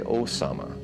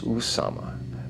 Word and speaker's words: Usama: properly spell his name they say Osama it is Usama u m a m